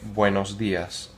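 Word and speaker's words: buenos días: The next thing you might say to someone if it's before noon, you would say buenos dias. Buenos dias. There's a tilde on the I.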